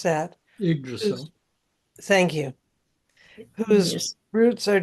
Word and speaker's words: Yggdrasil: be like the tree, I forget how to pronounce that. Yggdrasil.